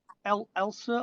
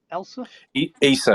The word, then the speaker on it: Issa: I think is it Elsa or Elsa? Issa, Abu Issa. Issa, yeah, he got a nice round of applause when he came past.